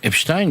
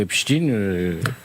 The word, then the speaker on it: Epstein: Ce qui est fascinant dans Epstein ou Epstein, je prononce comme Einstein ou Frankenstein, désolé, le c'est sa capacité à mouiller tout le monde.